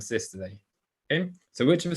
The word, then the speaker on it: systole: say diastole and systole it should be pronounced diastole and systole okay so which of